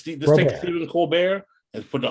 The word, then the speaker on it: Colbert: a look at the colbert and put the r over the t is silent but not you and